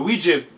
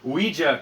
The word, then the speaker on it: ouija: i mean but basically ouija comes from the french we and the german ya so ouija basically